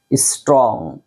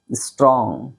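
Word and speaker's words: strong: পারেন স্ট্রং নট স্ট্রং এখানে ঠ বানায় ফেলেন না ঠিক আছে স্ট্রং স্ট্রং স্ট্রং মানে মজবুত শক্তিশালী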